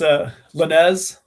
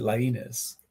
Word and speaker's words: Lainez: Sure, it's Lainez. Lainez. It's been Americanized a little bit, but I think my sisters still pronounce it Lainez. But Lainez. Lainez, yeah, Okay. like Martinez, Yeah.